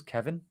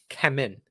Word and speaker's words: Kemen: Did he say his name was Kevin? I had to check this. Kemen. Kemen. So Kemen. Right. I believe. Or pretty much close to that. I thought I heard Kevin.